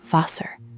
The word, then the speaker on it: Wasser: The word Wasser, water, doesn't end in a hard American R. It's more like Wasser. Try Wasser.